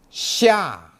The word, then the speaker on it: 下: 下 Now, please follow me to learn the pronunciation. 下西一啊下下下雨下雨今天下雨了。